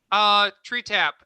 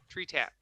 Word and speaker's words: Tretap: Tree Tap. It's spelled TRETAP. Tree Tap.